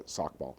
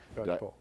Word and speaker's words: Skocpol: Because there's this fantastic book on the Tea Party by a woman who's I always quote but never pronounce her name correctly, Theda Sackball at Harvard. Skocpol.